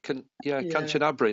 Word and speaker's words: Kanchanaburi: Well, honestly, it's interesting that I pronounce Kanchanaburi, but some people say Kanchanaburi. Yeah. It's just Kanchanaburi. Kanchanaburi.